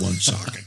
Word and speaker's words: Woonsocket: Yeah, it's spelled Moonsocket, but they call it Woonsocket.